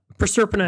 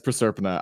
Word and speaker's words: Proserpina: Proserpina is, I think, the Roman pronunciation. It's Proserpina.